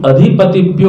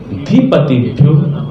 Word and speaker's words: अधिपतिभ्यो: तेभ्यो नमो के बाद यदि अधिपतिभ्यो बोल दिया तो प्रोनाउंसिएशन की दृष्टि से, उच्चारण की दृष्टि से वो दोषपूर्ण हो गया। तो तेभ्यो नमो धीपतिभ्यो नमो, जैसा आप बोलते होंगे ऐसा ही बोलते होंगे।